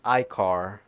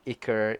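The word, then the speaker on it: Ichor: so it's pronounced as Icor. Oh god. So I was wrong the whole time. It's not Iker, it's Icor.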